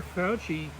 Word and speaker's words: Fauci: Fauci?